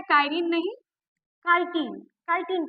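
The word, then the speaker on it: chitin: है तो ये काइन की बनी होती है स्पेलिंग मिस्टेक है कान नहीं काटीन काटीन की बनी होती है ठीक है अब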